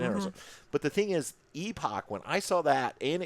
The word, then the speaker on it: Epoch: tell us Epoch batteries I pronounce it Epoch I think that's the way you pronounce it I do hear some people on YouTube epic but EP yeah reached